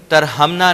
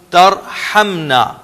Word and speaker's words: تَرْحَمْنَا: وَتَرْحَمْنَا لَنَكُونَنَّ مِنَ الْخَاسِرِينَ۔ ہا کو انڈر لائن کر لیں، ترحمنا نہیں ہوگا، ترحمنا۔ وَإِن لَّمْ تَغْفِرْ لَنَا